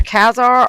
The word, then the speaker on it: Khazar: Either Khazar or Khazar is pronounced like the first syllable of costume with the word zar added to it.